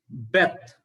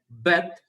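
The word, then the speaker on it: בית: But remember that when there is dot in that Beth, then its pronunciation is bat. In B in the bat. But if there is no dagesh, then its pronunciation is V in vat.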